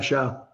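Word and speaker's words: Shough: Is it Slough or or Slow? SH. Tyler Sha.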